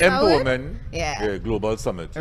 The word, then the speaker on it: EmpoWomen: Well, oh, yes, pronounced EmpoWomen.